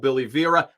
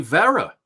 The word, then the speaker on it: Vera: man oh it's not it rhymes with Yogi Berra Oh Billy Vera or Geraldo Rivera oh I always thought